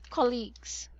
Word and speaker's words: colleague: colleagues colleagues very good this is a short o so you should pronounce this as o colleagues colleagues colleagues there very